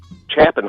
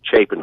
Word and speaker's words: Chapman: this again but uh Chapman High School is actually pronounced Chapin High School in high school yeah